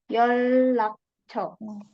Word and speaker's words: 연락처: 연락처. 연락처. Di sini teman-teman 연락 ya bacanya bukan 연락 tapi 연락. N ketemu sama R semua dibaca L.